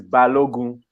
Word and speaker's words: Balogun: pronounce it? It's Balogun.